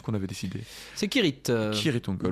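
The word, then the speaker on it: Cirith Ungol: Gandalf explique qu'au nom de Kirit ou Sirit-Ungol d'ailleurs, je ne sais plus ce qu'on avait décidé. C'est Kirit. Kirit-Ungol. D'après Tolkien, ça se prononce K.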